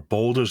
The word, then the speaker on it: Baldur's: a new release yeah Baldur's Gate 3 or Boulders gate three as they pronounce it in game um is I'm thoroughly